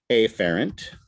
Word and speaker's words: afferent: a pathway and again afrin obviously is the right way to say it but i emphasize the a because it helps me to remember how to spell it afferent pathway whereas coming out